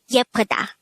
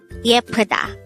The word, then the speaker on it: 예쁘다: Yeppeuda. Yeppeuda. This is pronounced as a three-syllable word. The first syllable is ye, the second syllable is p, the third syllable is da.